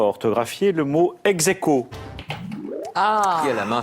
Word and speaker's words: ex aequo: Voilà, donc c'est le seul piège et on prononce évidemment à la française ex aequo puisque c'est de l'argot scolaire.